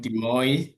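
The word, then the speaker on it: Des Moines: My name is and I'm here in Iowa, a city called De Mo sometimes hard to pronounce as des and I'm glad to be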